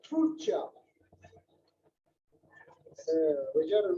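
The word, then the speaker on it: Tulcea: I just got the correct pronunciation for this town. It's called Turcia.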